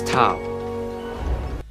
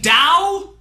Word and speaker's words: Tao: This is Tao. You mean Dao? The word that's spelled like Tao but pronounced like Dao except by people that know absolutely nothing about Chinese.